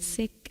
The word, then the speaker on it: Sikh: them so not really so sick means learner that's wonderful yeah so i'm going to say i'm going to try and say sick because i'm going to say it properly okay beautiful thank you